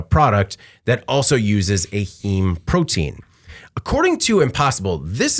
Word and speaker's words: heme: Because if it comes back and they can't use this protein, this heme protein, did I say it right that time? Heme. Yes. Like a meme.